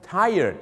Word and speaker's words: tired: คือ tied นะ ฮะ 2 พยายาน นะ ครับ tired นะ ฮะ หรือ ถ้า เกษียณ นะ ครับ จาก